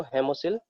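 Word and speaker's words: hemocoel: Okay, सो उसके अंदर जो फ्लूइड भरा हुआ है उसको हम लोग हेमोसिल फ्लूइड कहते हैं, उसको हेमोसिल फ्लूइड प्रोनाउंस करते हैं।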